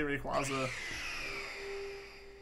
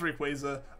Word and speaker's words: Rayquaza: That's kind of what I figure, like, with the pronunciation of Quasar. But I don't know, I always just say Rayquaza.